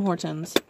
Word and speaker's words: Hortons: Yeah, actually, I don't ever think I've had Tim Hortons. And yes, I say Hortons. I pronounce my T.